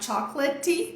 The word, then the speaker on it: chocolate: aqui de novo né coloquei a força aqui na sílaba tônica e a parte que não é tônica enfraqueceu reduziu virou chuá a partir de qual vogal aqui agora a partir do ar e a gente tem um é totalmente silencioso aqui também né Depois do T então não tem som nenhum Então a gente vai falar chokelet de jeito nenhum Cuidado